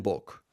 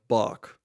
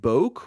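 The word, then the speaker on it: Bok: he can protect this so it's more of a oh sound instead of ah like in English in English it would be more like Bach I've heard some people pronounce my name like bulk which is a little bit odd I don't know where because everyone says Bach anyway yeah how often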